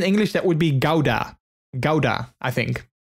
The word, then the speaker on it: Gouda: you don't pronounce it gouda in the netherlands you pronounce it as houda that's the dutch word for it so i think in english that would be gauda gowda i think it's not